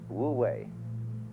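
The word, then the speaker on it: 無為: It's called in Chinese Wu Wei. Wu, non-way striving. In Japanese, Mui. I is Japanese for pronouncing the Chinese way.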